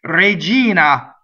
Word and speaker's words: regina: that Ella position information Regina so the accent is on e the e syllable the unstressed will be a Regina going on dollar toe